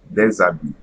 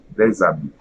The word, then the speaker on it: des habits: Okay, I will just pronounce all of them together. So, dans une classe. Dans une classe. Un enfant. Un enfant. Des habits. Des habits. Okay? So there should be no pause between the pronunciation of the first one and the second one, but the first word pronunciation is usually not going to change.